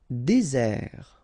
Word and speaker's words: désert: Désert. Okay, remember, final T not pronounced. Désert. And really this Z sound just because you get one S between the two vowels.